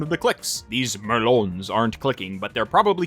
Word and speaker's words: merlon: But the boundaries around you are topped with these Merlons. Those are the little hidey portions on castle walls. They're pronounced Merlins, I'm just being stupid.